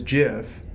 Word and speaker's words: GIF: be ji f yeah but I hear it's pronounced like give the proper term is jiff although it's a G that's what I go